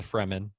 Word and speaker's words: Fremen: It's definitely the Fremen.